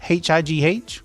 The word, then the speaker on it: high: how do you pronounce h i g h? We said it a hundred times so far today. h i g h high It's exactly the same pronunciation as h i.